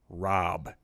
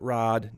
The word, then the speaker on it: Rob: It's pronounced Rob. Not Rod, not Bob, not Rock, Rob.